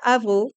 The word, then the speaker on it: Avrot: My name is Avro, which is kind of annoying because no one can say it properly internationally. If you're French, you know how to pronounce it, but else it's difficult.